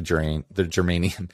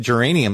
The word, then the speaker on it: germanium: original and kept the germanium. I always want to say geranium now because someone put that poison in my head because they're like, oh, some people accidentally pronounce it geranium.